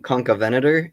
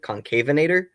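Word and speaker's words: Concavenator: There is a dinosaur that I love called um Concavventor is probably the best way to pronounce it, but growing up I always pronounce it concavator and it's um we're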